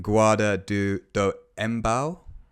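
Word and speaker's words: Guarda do Embaú: Australia we have an you might kill me for my pronunciation of this because it's a Brazilian destination gu du do embau what yeah yeah there you go that's better thank you juano Peru Malibu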